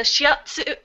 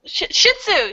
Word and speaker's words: shih tzu: It's a shiatsu. No. I'm just pronouncing the dog's name wrong. Don't know the dogs. So. Yeah, it's a little shih tzu.